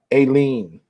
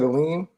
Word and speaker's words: Elaine: See, I was going to say that, but you didn't say her name right. It's Elaine. That's it. What I said, Elaine.